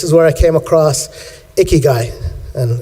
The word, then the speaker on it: ikigai: where I came across a key guy and it's pronounced like an icky guy a key guy but it's basically the